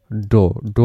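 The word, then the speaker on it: dough: প্রথম যেটা সেটার উচ্চারণটা কিন্তু হবে এইটা টাফ, এর পরের এইটুকুর উচ্চারণটা হবে বাউ, এটা হবে কাফ, এবং এখানে যেটা এটা হবে ডো মানে হলো ময়দা।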